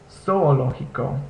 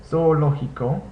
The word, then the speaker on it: zoológico: It's zoológico. The zeta makes the S sound. So zoológico. Notice the G also makes the English H sound.